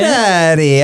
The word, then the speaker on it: Ferrari: Okay, and you put the little spin on how you said it. Ferrari. I say it like they say it.